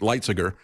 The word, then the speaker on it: Lighthizer: Trade Representative Robert Lighthizer, I guess is the way he pronounces it, Lighthizer, to look at reentering the TPP negotiations.